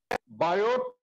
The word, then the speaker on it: Biot: Rule आया, अब आए बायोट सेवर्ट। ये 2 साइंटिस्ट की जोड़ी है। बायोट, BIOT, टी साइलेंट है, बायो, BIOT, बायो, और सेवर्ट।